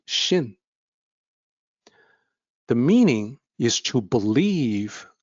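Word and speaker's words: 信: The pinyin starts with X, Xin. That's the rule of romanization. But the X is actually SH in pronunciation. So it sounds like Xin.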